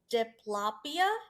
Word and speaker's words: diplopia: Um it's also called, I found out, diplopia, if I'm even pronouncing that right.